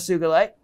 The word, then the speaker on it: sugilite: did was research and it was research that led me to the correct pronunciation of sugarlight and then there i